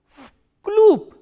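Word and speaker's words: в клуб: Why? Because this v is voiced, so it will be pronounced as its voiceless counterpart, which is f, and this b is again a voiced consonant, so it will be pronounced as p, vkloop.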